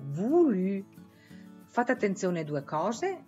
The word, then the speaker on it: voulu: E fate attenzione anche alla pronuncia di voluto, dove avete un dittongo OU che si pronuncia U e una U francese, come diciamo noi, che si pronuncia invece U. Donc, voluto diventa voulu, voulu.